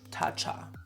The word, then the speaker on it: Tatcha: Tata Tatcha.